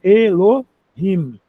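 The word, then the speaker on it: אלהים: Portanto, duas sílabas, elo rim. Pro hebraico é isso. Se fosse em português, a gente ia achar três sílabas aqui, mas no hebraico a regra é essa. El him aqui o re. Lembra que o re é aquele h fraquinho igual do inglês do hot dog, house, home, Hollywood, né?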